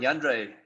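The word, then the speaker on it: Jandre: Yandre. So it's actually Yandre. like Andre, just with the J, Yandre, but Yandre.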